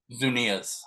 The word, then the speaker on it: Zunilla's: what's the name of the hot sauce again zunia zunia CJ thanks man so much I just